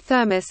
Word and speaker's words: θερμός: Taking its name from the Greek thermos, pronounced thermos meaning heat, the thermosphere begins at about 80 km 50 miles above sea level.